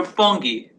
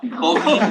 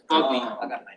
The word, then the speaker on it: Bongi: Senator Bongi. Did I say it right? No. Bongi. That's it. Bongi.